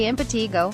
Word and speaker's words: impetigo: Impetigo, pronounced impetigo, is a contagious, superficial infection of the skin caused by Staphylococcus, staph, and Streptococcus, strep bacteria.